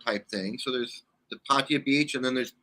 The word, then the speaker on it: Pattaya: Pattaya. Everybody says it a little different. Even the Thais say it a little different, but the Thais say Pattaya.